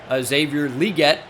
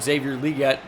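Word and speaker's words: Xavier Legette: Deontay Johnson to get open obviously they drafted Xavier liette is how you say it Xavier liette in the first round they brought in Jonathan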